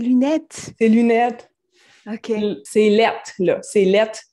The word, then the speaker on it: laid: Lettres, c'est notre façon de prononcer lait. C'est lait. Ah, c'est lettres, là. Fait que ses lunettes sont lettres. OK. Donc, c'est lettres avec un T, en fait. Ouais, avec un T à la fin.